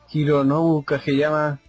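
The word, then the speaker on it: 影山: Recopilaban canciones referentes a los personajes, a la historia de los personajes, o a veces los mismos ellos lo cantaban, o Hironobu Kageyama, así se pronuncia.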